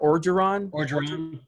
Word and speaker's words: Orgeron: I like Ed how you say it? Orgeron. Yeah. Ed Orgeron.